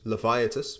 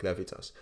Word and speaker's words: Laevitas: how I use it I use levius because or levitas um I think you need to pronounce it like levitas I use it every